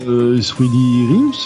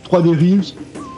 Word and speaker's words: 3D Realms: On devrait le prononcer 3D Rims là. Mais on a déjà tranché le débat quand on parlait de Worms, parce qu'on disait que Worms était de type 17, et même si on devrait dire Team 70, c'est des jeux que l'on a connus petits et on prononçait à la française. 3D Realms, on prononce 3D Realms, voilà, c'est tout.